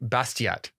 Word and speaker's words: Bastiat: the day is from Frederick bastiat is that how you pronounce that it is how you